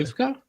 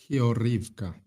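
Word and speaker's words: Георгіївка: Orhivka? Hyurivka. Yes. Just But I think the Ukrainians will be more happy if you pronounce an English H rather than a G.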